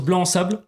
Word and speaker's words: Blansable: Et du coup, moi, je prononce blanc sable. Blanc sable. J'ai dit que c'était du blanc sable.